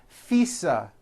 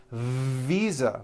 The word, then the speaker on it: visa: to leaf is that correct no it's not leaf with an unvoiced f i should have said leave with a voiced v sound fisa she just received her